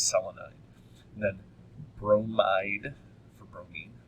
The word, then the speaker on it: selenide: Selenium is actually the one that changes the way it's pronounced, changes its pronunciation, and it goes from selenium to selenide. It's spelled the same. You know, it's Selenide. So it doesn't change any spelling in the root. It just changes the root pronunciation, so it's selenide.